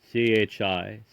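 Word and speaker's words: Chiniquy: My father, Charles Cinque, pronounced CHI/NI/QUAY, born in Quebec, had studied in the theological seminary of that city to prepare himself for the priesthood.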